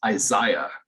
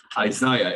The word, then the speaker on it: Isaiah: vidal uh dr berlin dr berlin's name is isaiah isaiah and if you look at the way it's spelled that makes perfect sense but everyone calls him isaiah which he says oh no it was isaiah berlin but um that was my first book ever by him um people can hear me they'll be like that guy can't pronounce isaiah i'd be like no sir no one says isaiah that's hilarious obviously since